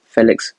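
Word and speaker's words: Félix: it a bit Felix that's how you actually pronounce It Felix I'm gonna give him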